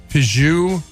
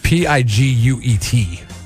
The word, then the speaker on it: Piguet: No, it's not a Peugeot. It's not like the car. It's not spelled like the car. It's a Piguet.